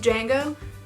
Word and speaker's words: Django: It has a D in the middle, like Django, but it's pronounced Django.